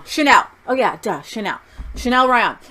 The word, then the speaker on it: Chanel: Chanel.